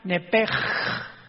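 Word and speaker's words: נפש: Los que quieran apuntarlo, la palabra alma en el hebreo es nepesh, con SH al final, como suena nepesh. Pero la SH en hebreo se pronuncia como J, entonces se pronuncia nepej, como el francés, ¿verdad? Que es gutural, nepej.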